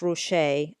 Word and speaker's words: Ruscha: tab is at Russia sometimes it's spelled or it's pronounced Roche I've always pronounced it Russia so I will continue to do that at any rate Russia